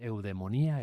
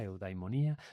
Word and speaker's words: eudemonía: Bueno, se escribe ahí, pero eudaimonía se escribía así en griego y en la rae aceptado con e porque en griego actual la a y la i se leen como e.